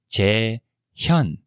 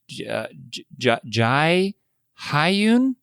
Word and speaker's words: Jae-hyun: her name and say, Jae Hyun? Jae-hyun is the correct pronunciation, but they would say Jae Hyun?